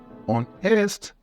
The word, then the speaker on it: honest: silent letters and they're everywhere like the word honest for example the AG is silent making the correct pronunciation on EST not arest another tricky one is live despite